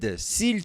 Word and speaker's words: s'il: s'il te plaît. E aqui ó, biquinho. Sil. Tem esse carinha aqui, ó. Sil. Você pode falar sil também, sem pronunciar isso aqui, tá?